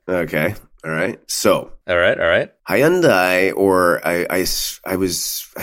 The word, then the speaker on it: Hyundai: assured me of the proper pronunciation of high-end I and it's Hyundai there you go in